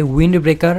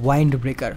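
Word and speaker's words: Wind Breaker: তোমরা একটু কমেন্টে আমাকে জানিয়ে দাও, কারণ আমেরিকান ইংরেজি অনুযায়ী এটার উচ্চারণ হবে উইন্ড ব্রেকার, আর ব্রিটিশ ইংরেজি উচ্চারণ অনুযায়ী এটার উচ্চারণ হবে ওয়াইন্ড ব্রেকার।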